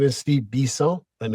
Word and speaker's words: Bisson: Well, my name is Steve Bisel and it's pronounced Bis because I'm from born and raised in Montreal, Quebec, Canada.